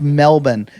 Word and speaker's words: Melbourne: It's pronounced Melbourne, and that's the proper pronunciation.